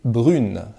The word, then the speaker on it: brune: eh bien au féminin, on ajoute un e et on change un peu la prononciation, car ça deviendra elle est brune.